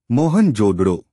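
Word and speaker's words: मोहनजोदड़ो: बैनर्जी ने की थी मोहन जोदड़ो शब्द का सही उच्चारण है महन जोदड़ो है साल 1922 ई भारती पुरातत्व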